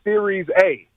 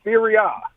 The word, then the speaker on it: Serie A: You said Series A. We pronounce it Serie A.